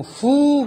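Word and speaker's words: ふ: 후 발음이 우리나라 사람하고 틀린 것은 우리나라 사람들은 전부 다 이 HU 발음에 가깝게 후 발음을 하는데 일본 사람들은 정확하게 F음으로 발음을 합니다.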